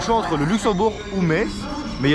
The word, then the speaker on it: Metz: En fait ça s'écrit Metz, mais ça se dit Metz, on m'a déjà reproché plusieurs fois.